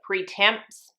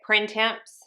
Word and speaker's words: printemps: is the floor day pre-temps i know that's not how you say it printemps but again i've said